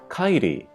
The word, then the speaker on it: Kairi: So again, we have two vowels together. A, I. You kind of, put them together. I. And then ri, again with a ri sound, kairi. Kind of like Kyrie Irving.